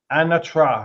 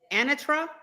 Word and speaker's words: anatra: Anatra, that's what it's called. Anatra.